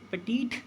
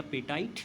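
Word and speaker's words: petite: फिलहाल इस क्वेश्चन की अगर हम बात करें तो पेटीट जो वर्ड होता है या पेटाइट जो वर्ड होता है जैसा आपको ठीक लगे आप वैसा प्रोनाउंस कर सकते हैं।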